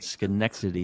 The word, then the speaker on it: Schenectady: Schenectady. It's Schenectady. It's That's how you pronounce Schenectady.